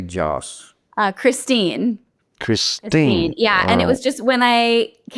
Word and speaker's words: Jass: Is it Jass? It's actually pronounced Joss, but I would say about Joss. 95%. Yes, it's German, so Joss.